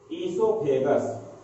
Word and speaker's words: oesophagus: It is pronunciated as esophagus, and this esophagus also called as food pipe.